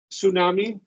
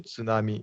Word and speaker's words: tsunami: sure that tsunami because I've always just said it with a silent T tsunami um no tsunami I I would pronounce tsunami in Japanese tsunami yeah with a TS okay I all right